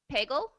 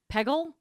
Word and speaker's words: Peggle: games unless it's bagel how did you pronounce that bagel Peggle she said peggle you say it like Andres is bagel hey listen when you